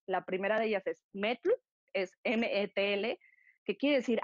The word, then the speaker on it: metl: La primera de ellas es metl, es METL, que quiere decir agave, e izcalli quiere decir cocido, es decir, una bebida de agave cocido.